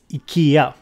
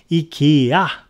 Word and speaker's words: IKEA: is not the company we decide how to pronounce it for example it's a Kia it's a Kia but I'm totally fine with